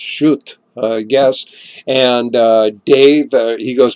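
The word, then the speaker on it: Schutt: Monica it's monica and it's SCH utt shoot i think his house pronounced shoot guess and dave he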